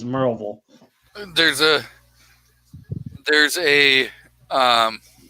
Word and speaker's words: Maryville: big aluminum factory at it looks like maryville but it's actually they pronounce it as marvel there's a there's a